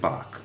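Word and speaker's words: 박: and pronounce yi and park pronounced bach okay um he only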